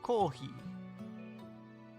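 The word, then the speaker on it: コーヒー: You pronounce it kohi. Kohi ga arimasu ka? It sounds similar to the word coffee, right?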